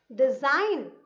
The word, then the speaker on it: design: Design, design. So G is silent.